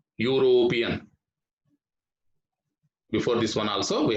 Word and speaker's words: European: mr david is a european european here also we have to use the sound of you european before this one also